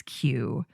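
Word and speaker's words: Kew: of a royal botanic garden, also known as Q, and that's spelled KW.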